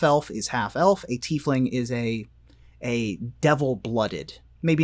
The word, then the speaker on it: tiefling: You're gonna have to tell me how to pronounce this one. A tiefling.